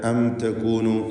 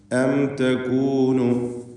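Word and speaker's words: أَمْ تَكُونُ: ഇവിടെ അം തകൂനു സാക്കിനത മീമിന് ഇൽഹാർ ഷഫവി നൽകി മണിക്കാതെ വെളിവാക്കി ഉച്ചരിക്കേണ്ടതാണ്. അം തകൂനു അവിടെ മണിക്കാൻ പാടില്ല, എന്ന് മണിച്ചു പോകരുത്, മറിച്ച് അം തകൂനു മിനല്ലദീന ലാ യഹ്തദൂൻ.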